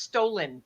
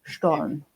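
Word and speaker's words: Stollen: I think I've heard it pronounced stolen, which probably just means yes, I should say translation stolen, but it's actually Stone.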